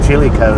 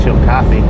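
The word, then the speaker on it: Chillicothe: She pronounced it chili co. That's the way I used to pronounce it. And then somebody in Ohio told me it was pronounced chill coffee.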